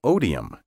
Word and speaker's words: odium: hatred the direct source of the english noun Oh Dee 'm spelled OD I um Oh diem and hatred